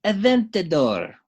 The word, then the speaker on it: Aventador: It's a 1:24 scale Aoshima Lamborghini Aventador. Was Aventador. the proper pronunciation.